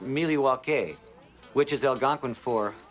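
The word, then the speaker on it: Milwaukee: was the movie Wayne's World milwa actually it's pronounced milwa which is El gin for the good land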